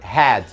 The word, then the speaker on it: had: Had não pode ser confundido com a cor red, que a pronúncia é diferente. E também não pode ser confundido com cabeça, que é head. Head, had. O som do A aqui, ele faz com que devemos abrir mais a boca.